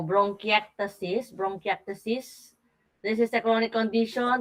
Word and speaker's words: bronchiectasis: So, ang tamang pronunciation nung sinasabi mo, bronchiectasis.